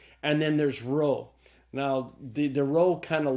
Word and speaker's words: rho: So the rho is the R sound, like the R in the English word rod.